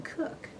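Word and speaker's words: Koch: Her name was K-O-C-H, no relation at all, and she pronounced it Cook, I think. But while I was in Washington, D.C., there was a young man I worked with. He was a fingerprint expert also. His name was K-O-C-H, but he pronounced his name Cook.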